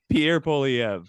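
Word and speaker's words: Pierre Poilievre: nailed it all right excellent I've heard perfect pronunciation Pierre poliev uh yeah just he seems like a sharper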